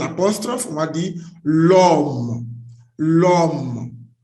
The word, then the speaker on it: l'homme: L apostrophe, on va dire l'homme. L'homme. Why? Because the word here, which means man, begins with H. H is a silent H here. And here, it is not plural, it's singular.